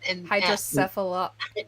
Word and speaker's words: hydrocephalus: And Hydrocephalus.